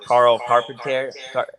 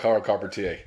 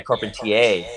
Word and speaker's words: Carpentier: It's with True Skateboard Mag and it was with Carl Carpenter. Fuck, is that how you say his last name, right? Yeah, Carl Carpentier. Yeah, Carpentier. Oh, it's French.